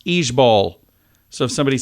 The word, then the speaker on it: IJBOL: out uh i j b o l is pronounced each Bowl so if somebody says it instead of saying